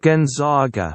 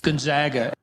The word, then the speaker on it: Gonzaga: you put in the word Gonzaga uh Google pronounces it Gonzaga so that's how we pronounce Gonzaga and Gonzaga flip you lady she was right